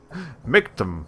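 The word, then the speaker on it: Michtam: The way you spell that is M-I-C-H-T-A-M. So, like, it almost sounds like you're spelling like milk. Milk tank.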